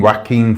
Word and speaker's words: Joaquin: whacking do you know whacking whacking Phoenix that's how you say his name properly Joaquin Phoenix I wanted